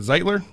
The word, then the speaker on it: Zeitler: I don't know how you pronounce that. Zeitler?